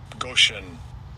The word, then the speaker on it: Goshen: And I'll give you a pronunciation. Strong's H 1657. Goshen.